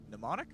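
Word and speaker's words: mnemonic: Same Greek root as the word pneummonic. Pneummonic. Yeah, the M is silent.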